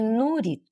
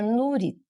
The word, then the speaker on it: Nurit: Meu nome é Nurit. É, se pronuncia Nurit. É, é Nurit. Isso. Às vezes eu já ouvi falar Nuri. É. É. Parece sem o T.